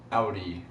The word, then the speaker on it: Audi: is based on Adi outie actually because that's actually the proper pronunciation despite what some people